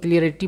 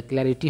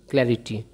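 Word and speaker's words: clarity: तो अब देखिए बहुत लोग क्लियरिटी बोलते हैं, कैसा स्पेलिंग लिखते हैं, CLEAR, क्लियर, है ना। तो ऐसा स्पेलिंग नहीं होता, क्लैरिटी होता है, क्लियरिटी नहीं, है ना, क्लैरिटी।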